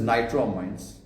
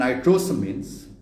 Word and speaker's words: nitrosamines: Then he says nitroamines. I didn't speak about nitroamines. I didn't speak about phytogens. I spoke about phytoestrogens and nitrosamines, not nitramines. There's an S which is missing.